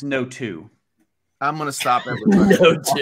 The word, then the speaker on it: Noto: I've always said Noto. Noto? Yeah, Curtis knows what's up. Okay. But I don't know that for sure. I believe it's Noto.